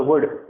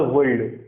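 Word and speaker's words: would: ठीक है, इसी तरह जैसे हम लिखते हैं शुड और वुड, और बच्चे उसे क्या पढ़ते हैं, शुल्ड और वुल्ड, शुल्ड और वुल्ड, क्योंकि बच्चे नहीं जानते कि उसमें एल जो है वो क्या रहना है, साइलेंट रहना है।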